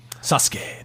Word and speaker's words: Sasuke: the great Suzuki or the great Sasuke Sasuke Sasuke that's how it's actually pronounced if you're from America your prices uki